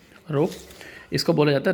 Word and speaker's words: rho: इस कांस्टेंट को बोलते हैं, इसको रो से डिनोट करते हैं, रो, RHO लिखते हैं, प्रोनाउंस ऐसे करते हैं RHO, रो।